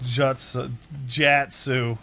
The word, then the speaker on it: jutsu: It's pronounced jatsu.